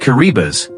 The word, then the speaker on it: Kiribati: Kiribati, pronounced Kiribati, is a small Pacific